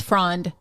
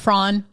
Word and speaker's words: frond: It is frond. Yes. It's not frawn.